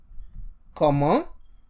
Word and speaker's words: comment: So mostly when you see C in front of O, A, U, you pronounce it as K. So that's why we were saying comment, comment.